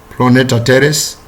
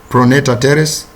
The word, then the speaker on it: pronator teres: is the origin of these muscles we have planetary teres pronounced pronator teres we have the flexor carpi radialis flexor capillary